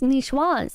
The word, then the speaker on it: niçoise: It's pronounced niçoise, a salad with tuna from the French area of Nice.